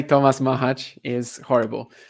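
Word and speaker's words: Macháč: say mahaj is okay I think the general like Czech pronunciation is mahaj but um yeah whatever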